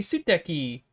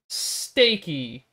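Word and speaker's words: 素敵: you have to be you have to put the emphasis on one of the syllables because you're not going to call something nice steaky because then that just sounds weird please no steak or no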